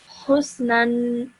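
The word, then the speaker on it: حسنًا: The alif after the noon tanween, the noon with the tanween is silent. Okay. This over here would be silent, so you wouldn't pronounce that. So you would just simply say husnan.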